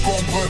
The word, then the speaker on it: Cambrai: Il vient d'une ville qu'on prononce Cambré.